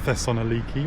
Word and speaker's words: Thessaloniki: Okay, a big welcome to Thessaloniki or Thessalonica. I think you can pronounce it either way.